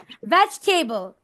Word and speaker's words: vegetable: Vegetable. Vegetable. Vegetable. নির্ঝর। Vegetable. Vegetable. Vegetable. ভেজ না, ভেজ। উপরের দাঁত নিচের ঠোঁট, ভি উচ্চারণ।